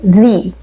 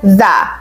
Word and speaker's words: the: الخمسه كذا مره يعني هنقول هنقول ذي اما لو احنا عادي بنتكلم عادي فبتقولها ذا وطبعا بتطلعوا لسانكم شويه وانتم بتقولوا تي اتش حلو دي كده نقطه بسيطه